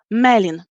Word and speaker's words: Melin: If this is the two-syllable word, like Melin, the stress is always going on the second to last syllable. So Melin.